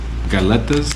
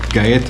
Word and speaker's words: galletas: this is uh gas galletas maybe in Filipino it's pronounced with L's it's a Spanish word right back let me get a knife so yeah Gaeta is a Spanish for